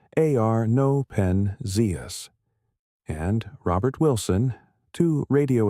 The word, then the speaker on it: Arno Penzias: Arno Penzias, pronounced Arno Penzias, and Robert Wilson, two radio astronomers working at